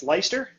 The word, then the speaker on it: Leister: So basically, we have co-branded show today, Corrie, and it's Leister. You got it. All right, make sure I pronounce it right.